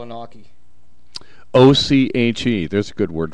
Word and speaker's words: oche: I never knew it was called an oche. O-C-H-E. There's a good word for friend's word. Yeah, it's called an oche.